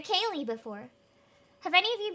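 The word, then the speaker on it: ceilidh: Have any of you guys in chat been to a Kaylee before?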